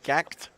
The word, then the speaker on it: GACKT: trauma correct correct uh getting some corrections and pronunciations please just say gact I will from now